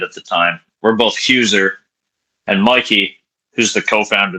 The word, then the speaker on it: Heuser: last name is pronounced Huer. Hey, I was So it's like my Yeah. Yeah. So I was like it's like cruiser but my actual last name. Huer.